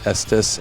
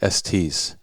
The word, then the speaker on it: Estes: And I just found out I've been saying his name wrong for 20 plus years. It's Estes, and I always used to say Estes.